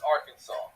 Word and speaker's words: Arkansas: and one way only three syllables with the accent on the first and last syllable and a silent S at the end they're having none of